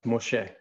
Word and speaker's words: Moshe: The word Moses, if you were to transliterate it, it would look like M-S-E, it'd be Mem Shin He, and it's pronounced Moshe.